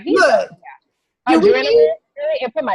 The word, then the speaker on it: Adrenalynn: Yeah, my Facebook business page is Adrenaline. You know, like the word adrenaline, but it's spelled ADRENALYNN.